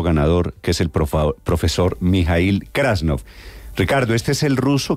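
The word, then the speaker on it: Mijaíl Krasnov: krasnov Buenos días Hola Buenos días Cómo se pronuncia su su nombre y su apellido Eh mijail krasnov krasnov sí señor profesor krasnov Hace cuánto llegó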